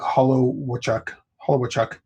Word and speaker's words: Holowachuk: I do hope Brock Hollow, I got to say his name right because I always say it wrong. Brock Holowachuk.